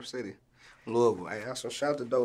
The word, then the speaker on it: Louisville: to I don't want to butcher that here Louisville you know what I'm saying City Louisville hey shout out to do life man that's